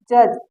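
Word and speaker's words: judge: पिछली वाली वीडियो में कि जी के पहले अगर डी आए तो डी साइलेंट होते है य देखिए इसको जज पढ़ा जाएगा यहां पर डी साइलेंट है अगला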